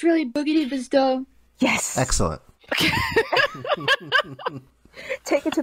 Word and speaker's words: Boogidibzdo: how do we pronounce your username you've been pronouncing it right it's really boogie divas done yes excellent take it to the big boys